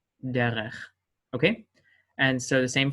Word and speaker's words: derech: However, every time that this is in the final form, unless it is given itself a dot, it will be pronounced as in the soft pronunciation. So that would be derech, derech.